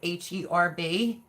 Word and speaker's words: herb: Because Paul said it's not pronounced with the H, like you're supposed to be saying, like herb, like the man herb, Herb. When the H is silent, it's herb.